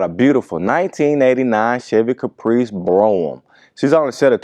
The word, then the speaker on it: Brougham: I know a lot of us guys grew up pronouncing it Brougham, but the proper pronunciation is Brougham.